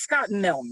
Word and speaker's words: Scott Milne: his brain here uh scott milne it's scott milne right because i hear that the e is silent okay that's correct title